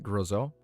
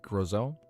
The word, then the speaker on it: Grisel: Grizel. Like Roselle, but just with a G. Grizel.